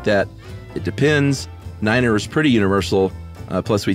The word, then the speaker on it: niner: exception of Niner uh we use Niner instead of nine because over garbled radio it sounds like five but mainly because NATO countries